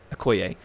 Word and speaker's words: Okoye: Okoye.